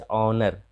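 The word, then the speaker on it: honor: तो एच के बाद कई बार प्रायः एच के बाद जब ओ आता है तो एच का उच्चारण कई स्थान पर नहीं होता है, जैसे ऑनर, ऑनेस्ट, ऑनेस्ट मतलब ईमानदार,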